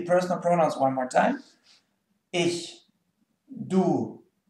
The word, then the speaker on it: ich: It's pronounced ich.